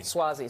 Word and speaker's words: Suozzi: Tom, I can never pronounce his last name. You're going to do it for me. Suozzi.